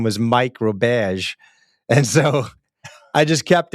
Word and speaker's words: Roberge: to the Win Make Give podcast, um Roberge. Is that Did I get your last name right right? That's perfect, Bob. It's funny because my grandmother's pronounced it Roberge, but I grew up in hardcore Central Mass